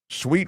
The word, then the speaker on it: Suite: Sweet 106bakery. Sweet, if you're just listening, is spelled s ui t, like a suite of rooms.